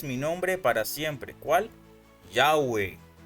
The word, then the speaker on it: Yahweh: Yahweh. Yahweh. Jehová es una forma híbrida que combina las consonantes Yod, Hei, Vau, Hei con las vocales de Adonai.